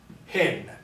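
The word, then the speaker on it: ἕν: in and the word hin. I know to pronounce the top one as in because it has a smooth or unaspirated diacritical, and the bottom one is hin.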